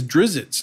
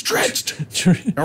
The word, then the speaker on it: Drizzt: And he says Dritzed. And I was like, oh, all right, Dritzed, that's his name. And from now on, I've been able to say his name, Dritzed. And it drives me crazy when I hear those people go, oh, his name is Drizzt. And I'm like, no, it's not. It's Dritzed.